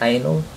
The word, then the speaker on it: Ainol: boot screen for sure and that's how you pronounce it anal a pretty nice boot screen i might end